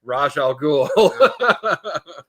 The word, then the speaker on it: Ra's al Ghul: It's Ra's al Ghul.